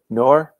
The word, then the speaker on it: Naor: Is it Naor? I'm not sure I pronounced your name. Yeah, that's good pronunciation.